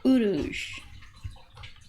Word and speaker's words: Uruz: the Rune or word so Urus that is the original pronunciation of orups the uh the bull